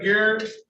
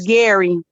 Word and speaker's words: Garrett: All right, let's go with Carita Garrett. Yes. Right? Yes. Did I get the pronunciation right? No, it's Gary.